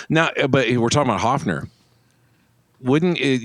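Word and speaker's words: Höfner: Now but we're talking about Hofner. Wouldn't it it's got an umlaut. Wouldn't you say Herfner? It'd be Herfner really. I mean if you're going to say it right. Herfner.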